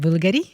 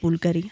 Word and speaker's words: Bulgari: which is I love how you say it, Bulgari. Bulgari. How do people say it? I mean, Americans definitely don't say it, They Bulgari.